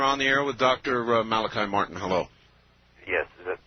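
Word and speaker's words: Malachi: Father Malichi, is it? Yes. Okay, pronounce it right.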